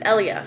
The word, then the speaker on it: Elia: didn't like my name elia because people always mispronounced it they'd always be like elia elia elia but it's ellia you know just kind of ellia ellia ellia so i just it's girl it's grown on